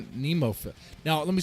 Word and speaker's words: Nemophila: As far as pronouncing NEMOPHILA, I've made the same mistake that a lot of people make, and I said NEMOPHILIA. I don't know why that is, because there's no IA at the end.